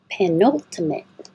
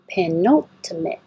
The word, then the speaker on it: penultimate: press she and Lee penultimate penultimate pen note and you have to say this tea I was thinking about it like yeah you have to say it not the last T